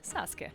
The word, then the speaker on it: Sasuke: And now I can proudly say that I'm trying to get used to calling him Saskuke.